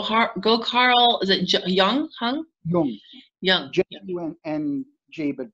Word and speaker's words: Jung: so smart go heart go Carl is it Jung Hyung no yeah and jaybird pronounced Jung it's a Swiss my whole life